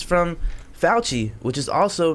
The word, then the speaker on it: Fauci: Fauci. Fauci. Yeah. I'm gonna take a shot for you. We gonna rhyme with Fauci. We're gonna throw that in there. Ouchie. Ouchie. Oh, there you go. Ouchie, grouchy, Fauci.